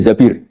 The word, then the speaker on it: Zabir: Kemudian saya nikah sama Abdurrahman bin Zabir di hadis ini bukan bacanya bukan Zubair tapi Zabir.